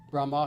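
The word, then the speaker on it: ब्रह्म: Brahma brahma short a not brahma not the creator but brahma meaning brahman meaning god and then joti means light.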